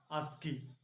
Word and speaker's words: ASCII: This is the pronunciation of ASCII, ASCII.